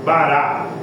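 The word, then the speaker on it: bara: Deus doos céus Terra aquele verbo no hebraico ele é pronunciado assim bará bite bará Esse é o verbo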